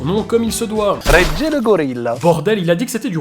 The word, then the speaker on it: Regelegorila: Alors c'est reggae. Oh putain, mais Simba, ça suffit. Bon, allez, comment ça se prononce? La vraie prononciation, en fait, c'est du roumain, donc c'est Regele Gorilla, qui veut dire le roi des gorilles.